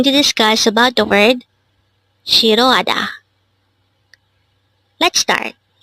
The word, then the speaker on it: 싫어하다: discuss about the word shiroada. Let's start. Learn Korean one word at a time only here at Dehango. Word number 303. Shirroada. This pronounces a four syllable word.